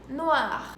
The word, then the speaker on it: noir: Mas em francês o R tem um som bem aqui, bem no fundo da garganta, como em rouge, ou como em noir, ou como em parler.